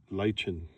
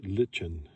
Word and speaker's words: lichen: Uh depending on which side of the world your reference is, uh British pronunciation is uh lychen. I think it's lychen. And of course, it's also referred to as lichen.